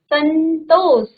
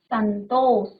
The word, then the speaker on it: संतोष: न का उच्चारण आ रहा है ना? आधा न का। संतोष तो देखो इस म को हमने अनुस्वार बनाया है किसका इस न का तिरोरेखा के ऊपर तो पढ़ेंगे कैसे संतोष उच्चारण में फर्क है उच्चारण में बड़ा फर्क